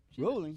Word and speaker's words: Rowling: Rolling? She's angry. It's Well- pronounced rolling.